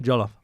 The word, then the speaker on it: Jollof: How do you say Jollof real Nigerian like? Your Jollof was all right. Jollof. Yeah. It's all right. Don't say it too quick.